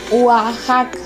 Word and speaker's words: Oaxaca: Oaxaca, Oaxaca. Se escribe con la X.